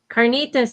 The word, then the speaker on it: carnitas: We had um how do you say can carolenas carnas? Carnitas.